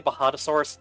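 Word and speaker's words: Bajadasaurus: Anyways, uh when I say Bahadosaurus spelled with a J like Baja Blast.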